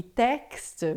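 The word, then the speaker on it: texte: Então, todas as vezes que você vê o x em francês, é sempre som de xi, tá?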